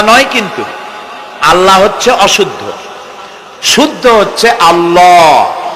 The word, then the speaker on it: আল্লাহ: বলেন তো আল্লাহ নয় কিন্তু আল্লাহ হচ্ছে অশুদ্ধ।